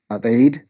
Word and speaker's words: Eid: Another really good one, which is in July, the festival of Adee. I probably mispronounced that.